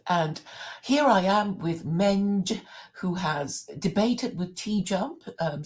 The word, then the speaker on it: Menj: Um, Actually, to be honest, Claire, I would actually prefer to be addressed as MENJ because MENJ is actually my initials. Yeah, I don't know why people like to pronounce it as Menj, to be honest.